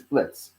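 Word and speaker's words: Blitzø: Sparta said, "I don't know, but they told me his name is Blitz, the O is silent, but they didn't explain it to me.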